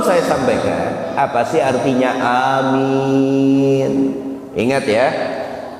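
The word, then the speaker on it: آمين: Sebelum saya sampaikan, apa sih artinya amin? Ingat ya, alifnya panjang mim minnya dua harakat karena ada ya sukun. Amin. Awas jangan salah bacanya. Kalau Anda pendekkan alifnya amin, itu artinya orang yang jujur.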